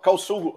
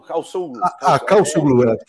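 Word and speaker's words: Çavuşoğlu: é o exatamente, Mevlut Cavusoglu, né? Eu não sei como é que se pronuncia. A pronúncia é exata. Cavusoglu. Cavusoglu. Exato. Você não pronuncia o V, exatamente.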